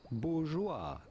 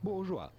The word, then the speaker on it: bourgeois: In English it would be bourgeoa. The s at the end of bourgeoa is definitely silent as is often the case in French. Bourja.